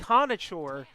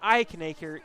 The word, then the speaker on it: Eichenberg: Ike Eichenberg, not Ikenberg.